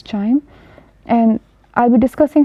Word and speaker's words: QIIME: So it is written as QIME, pronounced as Chime.